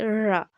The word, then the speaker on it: र: तो रा का जब हम उच्चारण करते हैं तो हमारी जो जीभ है वो आगे से क्या होती है? मुड़ जाती है, जैसे रा। आप बोल के देखिए रा, जीभ का आगे से मुड़ना क्या कहलाएगा हमारा?